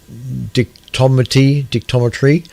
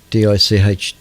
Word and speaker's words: dichotomy: The mission also yielded the first water estimate for the far side mantle and a possible dictometry in lunar water distribution.